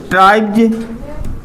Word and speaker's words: tribes: अगला एग्जाम्पल से लिखो हमने कहो का ट्राइब्ज TRIBES ट्राइब्ज।